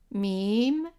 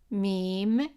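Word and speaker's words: ميم: It's an M, and the name of it is meem, meem, and the sound is m, just like in English.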